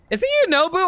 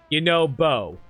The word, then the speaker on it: Yunobo: Is it Yunobu or Yunobo? It's okay, Slurgo. I'm the one who made such a mess of things after all. If I had just been more careful. Yunobo. Okay. I've been always pronouncing it as Boo for some reason.